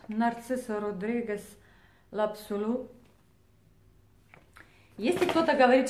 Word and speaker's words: Narciso Rodriguez: меня они душат и narciso rodriguez l'absolu если кто то говорит что я неправильно произношу ароматы я произношу ароматы как у нас здесь произносится на итальянском языке не нет надобности изучать